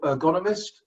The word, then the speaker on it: ergonomist: Chris is a Canadian certified professional ergonomist. Is that the right way to pronounce ergonomist?